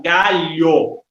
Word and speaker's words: galho: A penúltima sílaba, que é o caso da palavra galho, certo?